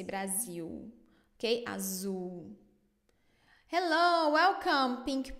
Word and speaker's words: Brasil: The final L pronunciation is the same as Brasil. Yes, always io. You don't say Brazil in Portuguese, say Brasil.